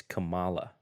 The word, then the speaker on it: Kamala: It's Kamala, emphasis on the second A.